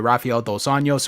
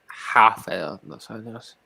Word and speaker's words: Rafael Dos Anjos: I didn't pronounce the hard R like Rafael the Ninja Turtle, did I?